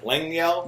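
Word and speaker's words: Lengyel: say his name Lang yeah Lang Lang yel Lang yel Lang yeah Lang yel um he tells one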